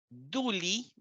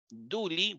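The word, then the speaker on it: δοῦλοι: esclavo Pero si yo escribo y omicron yota duli duli porque esta omicron yon se pronuncia u duli eso significa que es plural ya no es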